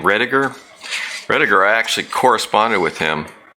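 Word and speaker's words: Rodeghier: The archive's still there because the guy who wrote this article, make sure I say his name, Rediger. I actually corresponded with him. Rodegeyer, Mark Rodegeyer.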